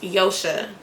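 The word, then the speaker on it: Joche: It's spelled J-O-C-H-E, and it's pronounced Yosha.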